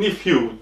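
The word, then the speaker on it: nephew: kız yiyen nasıl ezberleyeceksin erkek yen nefw diye okunuyor kız yen diye okunuyor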